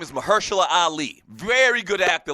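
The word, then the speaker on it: Mahershala: Before I go any further, Mahersula, that's the way you pronounce it. The guy's name is Mahersula Ali.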